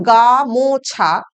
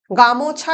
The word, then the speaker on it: গামছা: এই যে গামছা সেখানে কিন্তু ম এর পর আর আমরা ও উচ্চারণ করছি না।